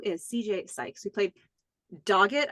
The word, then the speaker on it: Dogget: CJ Sykes, who played Dogget, I think it's pronounced, Dogget.